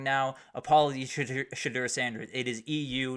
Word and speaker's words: Shedeur: We've already talked about a couple, but Shedeur Sanders will not throw at the combine.